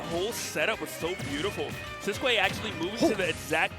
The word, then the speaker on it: Sisqui: Yeah, and excuse me, it's pronounced Sisqui.